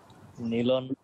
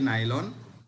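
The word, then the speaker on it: nylon: এটা ইয়া হচ্ছে যে নাইলন মানে যেখানে সবাই একই রকম উচ্চারণই করবে এটা হচ্ছে অফিসিয়াল ভার্সন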